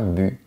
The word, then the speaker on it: but: un joueur marque un but. Mais on peut dire un but. C'est possible. Tous les mots pourraient être comme ça. Hein. Ce serait plus facile de choisir si on prononce pas la lettre finale.